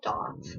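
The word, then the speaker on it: daith: So yeah, actually I don't think it's called Dave, it's called Doff. It's like spelled Dave, but it's pronounced Doff piercing.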